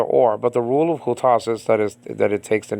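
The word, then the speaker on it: οὗτος: And by the way, hutas, okay, I should really pronounce it hutas and not hutos, because hutos sounds like an adverb.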